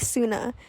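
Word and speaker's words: Sunai: So I ended up looking up how to pronounce the name of the monster, and you pronounce it like Suna.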